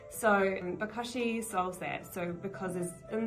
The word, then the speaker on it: bokashi: then we explain that we are using a bokashi system, which is a little bit different. That's how you pronounce it.